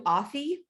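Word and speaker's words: Athie: saying this wrong but mama do authy it's uh silent h yeah okay and and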